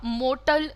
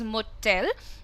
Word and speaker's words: motel: और होटल नहीं होता, मोटल नहीं होता, it is motel. जैसे आप इस शब्द को प्रोनाउंस करते हैं टेल, वैसे ही आपको ये शब्द भी प्रोनाउंस करना है टेल. सो इट इज अ होटल एंड इट इज अ मोटेल.